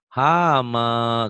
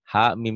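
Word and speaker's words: حم: Padahal salah bacanya. Ha mim ya. Hamim. Ada jeda. Ha Panjang ya, Pak? mi ada kayak ada jeda tapi enggak. Oh. Ha mim gitu.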